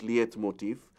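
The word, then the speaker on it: leitmotif: languages liet motif although it's spelt l-e-i-t it's pronounced liath motif is also referred to as motif now you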